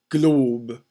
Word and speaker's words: globe: Globe. Sounds like one syllable, but if you know about the mute E syllables, the mute E actually constitutes a syllable, even though you can barely hear it.